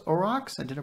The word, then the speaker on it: aurochs: is to do with it but it is pronounced aurochs i did a pronunciation thing because honestly i